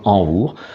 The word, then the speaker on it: invor: Et donc là, on retrouve le mot invor, prononcé donc envour.